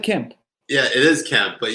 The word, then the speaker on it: Kemp: Were you gonna call the Georgia governor Brian Hemp? Isn't it Kemp? I said Kemp.